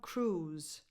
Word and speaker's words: Cruise: Tom Cruise. Tom Cruise. Not Cruise or Cruise. Tom Cruise. Z. A Z sound, not a S.